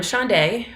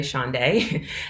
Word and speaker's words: Shaundai: I'm Shaundai, pronounced like a day of the week, Friday, Saturday, Shaundai, and I'm a UI engineer at SalesLoft, a software company headquartered in Atlanta, Georgia.